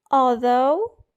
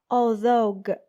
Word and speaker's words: although: those linking words first although though even though although though even though a common mistake that you should avoid is pronouncing GH at the very end as in saying although or although in spite of despite in